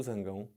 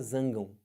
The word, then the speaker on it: zangão: da abelha é quem o Zangão não é isso mas também pode falar zangam estranho para caramba né o zangam mas é é o marido da abelha é o mesmo cara só que você pode falar de duas formas diferentes aqui ó duplex ou